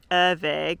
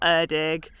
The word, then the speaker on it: Erddig: favorite one even though I think it's Irving not erdog um so I do